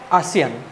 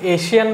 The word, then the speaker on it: ASEAN: আছো and that is ASEAN okay so প্ৰথমতে আমি নামটো চাই লওঁ এটো এছিয়ান বুলি তোমালোকে ভুল নকৰিবা pronunciationটো ঠিক আছে so ইয়াৰে